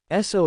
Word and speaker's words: Esso: So is one of the best known fuel brands in history. The name SO comes from the pronunciation of the initials so meaning standard oil.